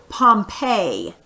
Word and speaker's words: Pompeii: gonna talk about this place right here you pronounce this Pompeii okay you may have heard of Pompeii before